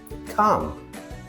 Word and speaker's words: calm: Over time, speakers found it easier to drop the tongue movement for the L. For examples, calm, half, talk. Memory trick. L is lazy. No tongue movement needed.